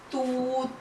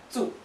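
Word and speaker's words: つ: It's not ti, but it is pronounced as chi. And it is not tu, but it is tsu.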